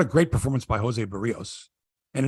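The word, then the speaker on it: Berríos: by Jose Barrios and it is burios because I've been listening to Dan showman say his name and I've got it Mike it's barios it's burios because wellner says it differently it's barios it's burios it's Jose burrillos he was given up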